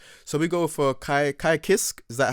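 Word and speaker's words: Ky Kiske: list okay nice so we go for kai kai kisk is that how you say it yep okay let me yeah kai kisuke so he's balanced as well and he has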